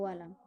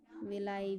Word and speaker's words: villi: System में था वो वाला. ठीक है, तो इसमें क्या होता है, विलाई बोलते हैं इसे, विलाई, विली, जो भी प्रोनाउंसिएशन करना चाहो, VILLI.